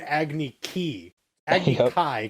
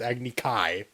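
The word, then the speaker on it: Agni Kai: was challenged to an agony key kai because it's spelt k-a-i you can't get key in there it's agni-kai oh so it's like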